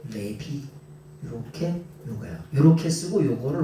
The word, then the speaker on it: 레위: 근데이 레위라고 하는 사람을 우리는 레위라고 발음을 하지만은 원래는 뭐냐? 레비예요. 레비. 레비.